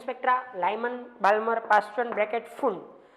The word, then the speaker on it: Pfund: Balmer, Paschen, bracket, and Pfund, P silent, and Pfund. How many series or which of the series are obtained in hydrogen spectra? Lyman, Balmer, Paschen, bracket, Pfund. P is silent here.